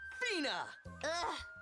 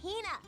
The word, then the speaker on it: Hina: And this is my traveling companion, the esteemed archaeologist, Fina. You keep saying it wrong. It's Hina.